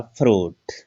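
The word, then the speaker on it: fruit: इसमें देखिएगा फ्रूट, तो आई का उच्चारण इसमें नहीं हुआ, फ्रूट।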